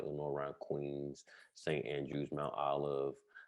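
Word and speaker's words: Lenoir-Rhyne: Is that why you ended up in it's Lenoir Rhyne? Yeah. Okay, I just want to make sure I pronounce that right.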